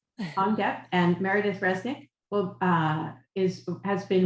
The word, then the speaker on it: Huong Diep: Can you help me with the pronunciation? Yeah, Dr. Huong Diep. Huong Diep and Meredith Resnick has been released, right?